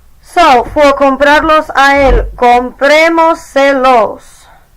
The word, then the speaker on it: comprémoselos: So, for comprarlos a él, comprémoselos. We added EMOS, dropped the S, added se, Added los, counted back 4 vowels, and put the accent on the E.